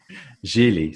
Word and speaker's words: Gigli: Jeally, spelled like really, but with a G.